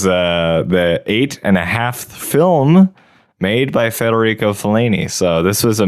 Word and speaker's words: Federico: So we did 8.5 by Frederico Fellini. Yeah. And Federico Fellini. Federico.